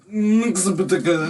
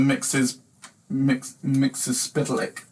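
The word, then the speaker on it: Mxyzptlk: Mixapatica. Mr. Polk. He's a guy from the 5th dimension who has an impronounceable name, basically. We are such It's I think it's actually pronounced Mr. Mixes Spitalik.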